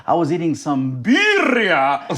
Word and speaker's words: Birria: I just mispronounced Birria to you like 4 times.